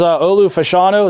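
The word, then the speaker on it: Fashanu: all right we could see that this was Olu Fano did I say it right that time yes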